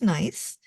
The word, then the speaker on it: Gneiss: over so we had week 14 was nice and it's pronounced nice the g is silent